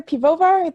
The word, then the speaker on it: Piwowar: So, yep, my name's Pivovar. The W's are pronounced like V's usually, but I am really forgiving. I know it's a challenging one.